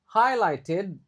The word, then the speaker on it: highlighted: Previous previous research highlighted. Nah, ini G-nya enggak dibaca. Kedua, G-nya enggak dibaca di sini.